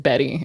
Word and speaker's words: Bette: Davis because of the way that it's spelled, but I found out that she pronounced it Betty and I was like I heard you say that on a previous episode and I just like let it slide.